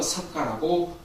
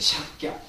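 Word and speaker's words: Śākya: 시족 이름은 그러니까 이제 부족의 이름을 따서 석가라고 불리기도 합니다. 그러니까 이것도 이제 우리가 한문 표기로서 석가라고 하는데 이것도 예전에 말씀드린 것 같이 인도식 표현 샥갸라고 합니다. 샥갸.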